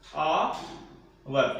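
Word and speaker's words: hour: बात करते हैं क्या आएगा, आवर को अपने ऐसे लिखते हैं हिंदी में आवर। ठीक है, साइलेंट रहता है ना, आवर।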